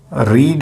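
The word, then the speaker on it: read: बी, रीड है, रीड का V3 होता है रीड, रेड, रेड। Spelling same होती है, प्रोनाउंसिएशन डिफर होता है।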